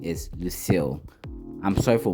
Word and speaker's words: Lucille: The right pronunciation is Lucille.